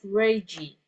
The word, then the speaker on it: Reggie: So this is pronounced as Reggie.